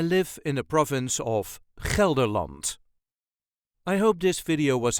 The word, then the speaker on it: Gelderland: way us duchies say kerland Kant there is a very slight emphasis on the first syllable kelant all the letter will